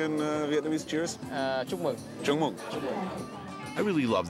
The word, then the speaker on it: Chúc mừng: Chúc mừng.